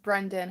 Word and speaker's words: Brandon: Oh yeah, it is pronounced Brendan, huh? I apologize. I was really paying attention to the spelling.